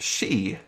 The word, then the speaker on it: Shee: But I'm pretty sure that's pronounced she. That was Dr. Courtney Shee, Scotland Yard's esteemed chief coroner.